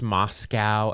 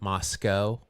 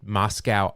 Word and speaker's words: Moscow: I'm assuming that's pronounced Moscow and not Moscow. Just Moscow, Idaho is pronounced that way.